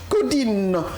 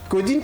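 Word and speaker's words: Caudines: Codine. Codine qui s'écrit comment ?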